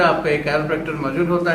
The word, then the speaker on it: chiropractor: बहुत से लोग वाकिफ नहीं, इवन के लोग इसको सही प्रोनाउंस भी नहीं करते। द वर्ड इज कैरोप्रैक्टर और जो इलाज है उसको कहते हैं कैरोप्रैक्टिक थेरेपी, ठीक है।